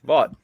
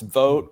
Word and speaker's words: Vought: Vought. The really sad thing about his name is it's pronounced vote, which he wants to eliminate.